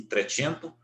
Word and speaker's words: trecento: os 300 que que no italiano lá se pronuncia assim trecento quattrocento ou quatro tinha seus